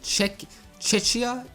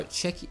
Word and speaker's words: Czechia: Thankfully, the country's split in two, because the how do you pronounce that? Czechia? No, Czechia.